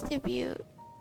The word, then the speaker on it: debut: matters this being his debut oh actually I've been having a hard time saying that debuted right debut damn it let me just search it up pronunciation debut they don't say tea but dumbass okay if you